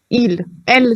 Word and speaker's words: il: That's why ILS is also pronounced as ill, and IL is also pronounced as ill.